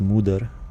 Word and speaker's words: Moder: I hear it's pronounced muder, which sounds pretty Germanic for mother.